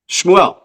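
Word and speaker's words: שמואל: word show team Samuel how do you say Samuel in Hebrew well exactly schmuel exactly right and things the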